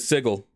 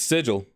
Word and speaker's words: sigil: I always said sigil, but it's sigil.